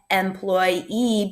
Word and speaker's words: employee: This is the word employee. So there's a short E in the beginning, employee, but a long E at the end, a double E.